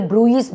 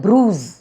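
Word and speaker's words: bruise: அதனாலதான் பிஆர் யூ எஸ் நம்ம mostly நிறைய பேரு ப்ரூயிஸ் ப்ரூயிஸ் சொல்லுவாங்க ஆனா அது வந்து ப்ரூஸ் ப்ரூஸ் அதே மாதிரி க்ரூஸ் இந்த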